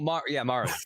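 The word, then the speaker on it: Marre: Oh, Mari.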